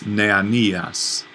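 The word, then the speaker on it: νεανίας: Now let's talk about the word for young man, which is neanias. Neanias. So accent on the penult.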